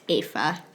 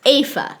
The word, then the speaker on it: Eva: It's pronounced Ava. Ava? It looks like Eva. That's how it looks, but I use the German pronunciation, which is Ava.